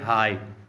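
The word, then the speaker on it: high: हाई, number 2, हाई का तलफ़्फ़ुज़ है हाई। अब जी यहाँ पे एच जो है वो क्या है, वो एच नहीं, यहाँ पे जी एच, उसकी क्यों ना वो आवाज़ क्या है वो साइलेंट है।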